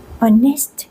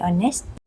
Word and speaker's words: honest: คะ และ สังเกต ตรง honest นะ คะ อยาก จะ ย้ำ ว่า เ ไม่ ออก เสียง ตัว H นะ คะ ออก เสียง hest